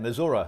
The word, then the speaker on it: Missouri: Missouri, that's how it's pronounced, Dave.